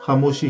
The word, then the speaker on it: خموشی: دیکھتے ہیں۔ خاموشی اردو شاعری میں بعض اوقات وزن پورا کرنے کے لیے خاموشی کا الف ہٹا دیا جاتا ہے، اور خاموشی کے خے پر چونکہ پہلے ہی زبر ہوتی ہے تو اس کا تلفظ خاموشی ہی رہتا ہے۔ خون گشتہ، خون